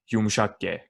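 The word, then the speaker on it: yumuşak ğ: And the letter most of my friends who want to learn Turkish have an issue with, which is yumuşak G.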